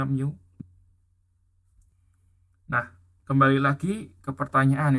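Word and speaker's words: μ: bacanya mi yang kayak huruf M latin itu bacanya mu nah kembali lagi ke pertanyaan itu kenapa 1/tiga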